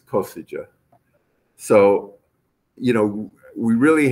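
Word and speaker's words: Košice: And by the way, my mother was born in this town of, she calls it Kaszow, because I think that's the Hungarian pronunciation of it, but I think the Slovakian pronunciation is Kosice.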